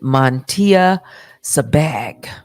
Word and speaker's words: Miesha Shakes: She pronounces it Miesha Shakes.